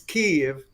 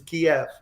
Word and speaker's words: Kyiv: Actually, it's in Ukrainian, it's Kyiv, and in Russian, if the translation from Russian is Kiev.